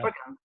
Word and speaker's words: Oregon: Sorry, yeah, is it three syllables or two? Just two. Oh, okay. You know. Oregon. Us East Coast. That's like argon gas.